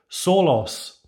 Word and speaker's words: Sólás: recording the intro that the brand should be pronounced solos the fathers are accents in the irish language adding the emphasis to the vowel sounds the word means solace